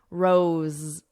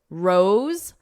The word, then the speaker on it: rose: So here, dose and rose have the exact same vowel sound. It's that O, but the SE is pronounced differently. Dose with an S, rose. Z. So you hear a Z, a buzzing, because it's a voiced sound.